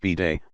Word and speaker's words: bidet: Venezuela Lebanon and India abide pronounced b-day looks like a toilet